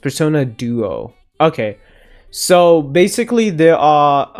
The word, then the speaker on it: Persona Duo: Um, they also do not use normal Personas, but instead Persona IIS pronounced Persona Duo.